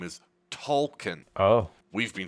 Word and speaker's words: Tolkien: their last name, with the main child being Token. Turns out his actual name is Tolkien.